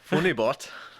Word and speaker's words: FUNYBOHT: the OOTS in there there's an h a silent h bot funny bot is that a Polish